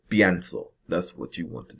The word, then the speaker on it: pienso: And just to be sure, this IE stem change, make sure that you pronounce as if it's one syllable, right?